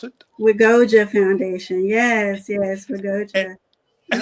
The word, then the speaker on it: WGOA: Is that how you pronounce it? Wiggoa Foundation.